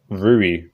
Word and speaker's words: Rui: Well, in the Ryu fight, I'm just now realising I'm pronouncing it Ryu, it's like Rui, yeah.